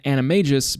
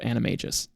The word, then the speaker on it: Animagus: an animis by Nature you guys made fun of me for mispronouncing that in my other video so I looked it up and half you don't even know how to say it so I'm not accepting criticism on the pronunciation of animis it's that's what it is JK Rowling said it herself anyways so Mrs Norris